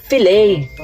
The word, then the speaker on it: fillet: Silent T. So tatanggalin mo yung letter Taya filet.